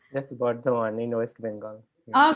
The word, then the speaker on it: Bardhaman: So I don't know how exactly it is pronounced. Yes, Bardhaman in West Bengal.